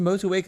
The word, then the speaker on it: Motueka: It's pronounced Motueka.